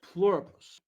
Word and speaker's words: Pluribus: For the sake of convenience, we're pronouncing it with an I. Anyway, this is Pluribus, the one and only podcast, your go-to spot for all things related to this series.